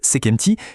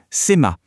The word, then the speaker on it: sema: la traduction du hiéroglyphe Sekti qui veut dire les deux puissantes. C'était une bonne hypothèse mais en fait c'était une erreur. La prononciation correcte de ce hiéroglyphe ce n'est pas sekti mais plutôt séma.